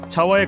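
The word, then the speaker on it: Java: 견지 발음은 자화에 가깝고 구글 지도의 표기도 자화로 되어 있지만 영어식 표기는 우리가 알고 있는 자바이고 발음도 자바로 한다고 합니다.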